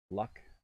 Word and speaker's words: luck: Is there any pronunciation difference between luck and lock? Yes. Definitely is. Luck, lock, luck, lock. I guess it does sound somewhat similar.